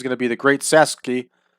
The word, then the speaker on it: Sasuke: to be the Great Sasuke. I always thought it was Suzuki, but I guess it's pronounced Sasuke.